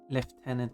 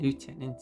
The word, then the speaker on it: lieutenant: Then there's difference between left tenant and lieutenant. I mean there's no syllable difference.